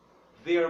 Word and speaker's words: they're: They're my friends. Tá bom? Então, nós temos aqui, ó, they're my friends. Cuidado para não confundir com there. There tem um som mais aberto, um acento agudo. There.